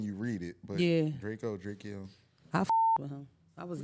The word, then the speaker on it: Drakeo: I would say his name wrong. How you say his name? Drakeo.